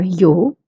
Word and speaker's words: yo: They are yo, which means I. But before we move forward, let's look at the pronunciation. Yo is pronounced as yo in Spain, but yo in Latin America.